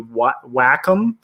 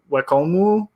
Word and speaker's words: Wacom: technically it should be Wacom, but if we're gonna be technical, we should call it Wakomu, I guess. So with like a mu at the end, and my pronunciation of Japanese is always terrible.